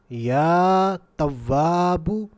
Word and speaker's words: یا تواب: تواب، اس اسم مبارکہ کو دوبارہ سن لیجئے، یا تواب، یا تواب۔ تو اس اسم مبارکہ کو ہم